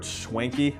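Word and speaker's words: Schwentke: film was directed by robert schwenke i think that's how you say his name and it stars henry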